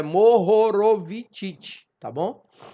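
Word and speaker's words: Mohorovičić: que a gente conversou né a descontinuidade de mohorovicic assim que se pronuncia tá Morrow ro eu tenho um problema de dicção não deixa eu falar isso ah mas é mohorovicic ti tá bom E aí como eu dizia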